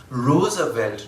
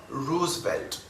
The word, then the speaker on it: Roosevelt: by president franklin roosevelt do note that despite the double o the name is pronounced roosevelt not roosevelt by the way this